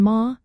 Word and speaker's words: Maith: Similarly, in ma, the th is also silent, leaving you with just the ma sound.